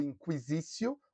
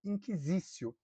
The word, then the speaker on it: Inquisitio: Aliás, a pronúncia pode ser ou Inquisitio ou Inquisitio, tá? Qualquer uma das duas pode ser.